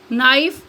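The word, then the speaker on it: knife: next है silent के के इज नॉट प्रोनाउंसड के प्रोनाउंस नहीं किया जाता या के आवाज नहीं देता वन फॉलोवड बाय एन एट the beginning of a word जब किसी लब्ज के शुरू में के के बाद एन आए for example नाइफ नी नो नोक knowledge next silent L एल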